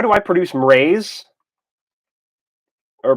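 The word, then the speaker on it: Mraize: How do I produce mraze? Or pronounce mraze, like mraze. Mr. Rise is fun. Mraze. It's like raise, the word raise, as in to lift or to completely level, which is ironic.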